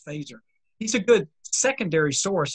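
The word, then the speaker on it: Feser: i mentioned a phaser f-e-s-e-r it looks like fessor but it's pronounced phaser he's a good secondary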